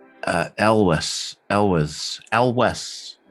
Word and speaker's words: Elwes: last name it's uh elvis ellis alwes l wes yeah elvis okay uh it's not yules or eels or anything like that it's it's it's definitely pronounced um elvis oh okay all right